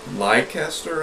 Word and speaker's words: Leicester: A 6-foot snake is on the loose today in Leicester, I believe is how it's pronounced.